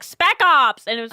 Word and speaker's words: spec ops: It was like spec ops, and I kept saying sec ops. And they're like, it's spec ops. Can I try it again? And I'd be like, spec ops!